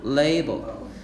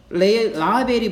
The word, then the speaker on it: label: 자, 이거는 한국 사람들이 이거 라벨이라고 읽는데 라벨 아니고 레이블이야. 뭐라고? 레이블. 자, what if it was labeled malaria or cholera? 그것에 라벨이 붙었다면 어때?